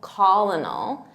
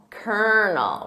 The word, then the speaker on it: colonel: it's spelled phonetically because it's not colal colonal it's kerel kernel repeat that kernel and